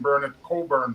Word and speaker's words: Burnett Coburn: And I said for the very last time in a classroom, "The teacher is silent, miss." I never said that to a teacher again because it became Burnett Coburn from that day on. Wow.